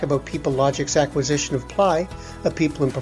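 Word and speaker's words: Plai: Um, is it pronounced play? Ply actually. Uh, I think it has some some meaning in uh in Ukrainian I believe.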